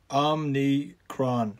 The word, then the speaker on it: Omicron: any more slightly severe omni kron c-r-o-n just think of quran at the end somebody should do an